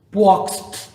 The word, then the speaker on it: Płock: Cuando uno ve los videos en polaco y mencionan esta ciudad Plock, parece absolutamente que mencionaran otra ciudad, porque mencionan como Płock, parece una explosión de algo.